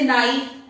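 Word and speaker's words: knife: ऐसे जैसे नाइफ, नाइफ में के साइलेंट होता है, लेकिन इसमें कोई साइलेंट नहीं होता है।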